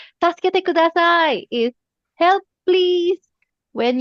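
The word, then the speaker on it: 助けてください: E K U D A S A I Taskete is help me okay help Tasket okay mamaya explain ko pa um or ngayon na taskete kudasay is help please when you are in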